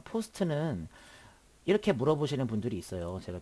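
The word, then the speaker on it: POST: 자, 이것을 바이오스라고 읽고요. 그 다음에 이것을 시모스라고 읽고 이것을 포스트라고 읽습니다.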